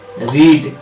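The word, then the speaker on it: read: इसी तरह से यहाँ पे रीड का पास्ट फॉर्म रेड, स्पेलिंग वही है लेकिन उच्चारण अलग हो जाता है, तो इसका क्या है?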